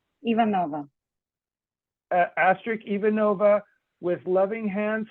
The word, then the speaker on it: Ivanova: Ivanova.